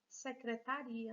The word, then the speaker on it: secretaria: seja lá onde for sem o acento virou secretaria nem vem que eu vou mudança na sílaba tônica e aqui fábrica o assento está